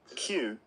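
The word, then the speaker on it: queue: Q, Q, Q, Q, Q, Q, Q, Q, Q. Just like the letter Q.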